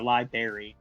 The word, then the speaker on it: library: Say library, please. Library. It's like Liberia. No. No. lie berry like like the fruit berry.